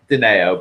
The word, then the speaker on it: Digneo: and today we have a special guest, Digneo. Did I pronounce that right? Digneo, but yeah, close enough.